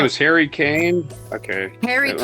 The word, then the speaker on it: Kane: His name was Harry Kane? Okay. Harry Kane. Rhymes with Spain.